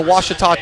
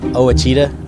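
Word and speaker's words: Ouachita: Network uh I've heard people say Oita oh a Oita is it pronounced Oita searching for wasita Baptist University back in Texas everybody pronounces it witch but really it's was was was how would you pronounce it it's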